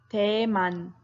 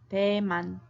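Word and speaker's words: 대만: PU oh yeah pretty cool okay Taiwan is pronounced Damon Damon true or false you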